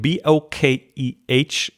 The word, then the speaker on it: bokeh: Bokeh, B-O-K-E-H. In Japanese, it doesn't have the H. It's just bokeh. But then I think most people in the world would pronounce it the wrong way.